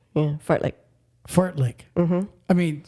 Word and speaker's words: fartlek: t l e k but it's pronounced fart lick yeah fart lick fart lick mm I